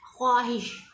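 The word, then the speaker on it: خواہش: ख्वाहिश, वाव जो है इधर बोलने में तो दुरुस्त तलफ़ुज़ क्या है कि वाव ख्वाहिश में साइलेंट होता है। इसको जैसे बाज़ जो है वो ख्वाहिश पढ़ते हैं, ख्वाहिश, तो वो सही नहीं होता, ख्वाहिश, वाव साइलेंट है।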